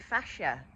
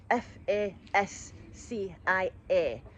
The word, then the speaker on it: fascia: Um, a lot of people probably haven't heard of your fascia, and that's spelled F A S C I A. fascia, fascial tissue, not facial fascia.